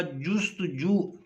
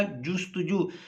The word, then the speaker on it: جستجو: لفظ کا تلفظ ہوگا جستجو۔ اعراب لگائیں گے تو تلفظ بن جائے گا جستجو۔ جیم کے اوپر پیش ہے اور سین جو ہے یہ ساکن ہے، تے کے اوپر پیش